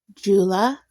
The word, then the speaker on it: Tsula: Her name is going to be Jula. And this is the Cherokee Jula. It's spelled T S U L A.